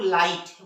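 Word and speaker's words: light: क्या नहीं इसे क्या फर्क है हम लोग लाइट वहां जी ह साइलेंट है उसी तरह से हे ह आई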